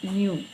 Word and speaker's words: nu: period so frequency is denoted by new this is new and pronunciation is n new okay new so it is one